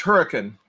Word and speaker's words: Hurricane: It's pronounced Hurricane, And if you... It's spelled hurricane. It's spelled hurricane, but they call it hurricane.